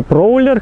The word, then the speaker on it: Prowler: Как бы дизайн мне очень сильно напоминает Chrysler Prowler, или Prowler, как он правильно читается.